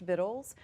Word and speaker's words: victuals: So her book is called Victuals. It's spelled Victuals, but it's pronounced Victuals, which is a word that means provisions.